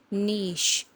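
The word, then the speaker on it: niche: इसे क्या बोलते हैं नीच नहीं इसको अमेरिकन इंग्लिश में बोलते हैं निच और ब्रिटिश जो है वह एंड पर अपने साथ में शी लगाते हैं तो इसको हम बोलते हैं नीश इसकी सही प्रोनंसिएशन अमेरिकन में नीश और ब्रिटिश में नीश फोटोग्राफी अब जहां यह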